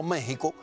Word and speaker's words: México: la palabra por tanto méxico se pronuncia con jp no se escribe con x porque esa era la forma de hablar de los aztecas bueno si usted quiere